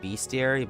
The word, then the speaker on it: bestiary: __ ] infantry cavalry some people pronounce that bestiary but i don't there's no a in there for me that's best dear like opening up a battle bestiary to each their own thank you kaian